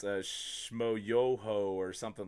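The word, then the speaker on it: Schmoyoho: is actually to watch what is it, Shamoyo, accent on the yo, does all like the songify the debate stuff. No, I don't know anything about that. That's a YouTube channel. It's a Shmoyoho or something like that.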